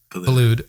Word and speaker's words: Boulud: I'm going to get some of the pronunciation wrong here. Daniel Boulud, is it? Or how do you say his name? Boulud.